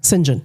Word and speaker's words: St. John: His brother pronouncing someone pronouncing singen spelled St. John but pronounced singen singen.